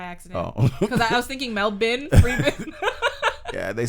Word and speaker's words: Melbourne: like melbourne right um i say melbourne because that's how they say it and it's kind of like you like well it's your family so you're gonna say the name the way you choose but the way like we in canada and the states would pronounce that word is melbourne b o u r and but they're like no it's melbourne it's melbourne it's like all right